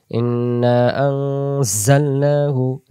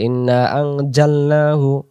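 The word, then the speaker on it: إنا أنزلناه: যা অক্ষর কোথায়, যেমন সূরাতুল কদরে আছে, সূরাতুল জিলজালে আছে, ইন্না আনজালনাহু জালনাহু। আমি যদি বলি ইন্না আনজালনাহু তখন জিম অক্ষর আসবে, তাহলে এক অক্ষরের জায়গায় আরেক অক্ষর কখনোই পড়া হবে না।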